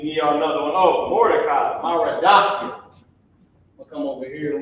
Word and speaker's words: Mordecai: Oh, Mordecai, Maradakia.